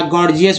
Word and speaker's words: gorgeous: या गॉर्जियस word देखिए, GORGEOUS, गॉर्जियस। पहला जी जो है ग, दूसरा जी जो है ज के रूप में उच्चारण हुआ है।